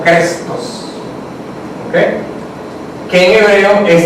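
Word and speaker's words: Christos: La palabra en griego más o menos se pronuncia algo así como Crestos, ¿okay?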